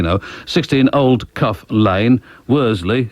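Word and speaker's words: Worsley: 16 old cuff Lane Worley it's probably pronounced something like Wiley locally but Worley w o r s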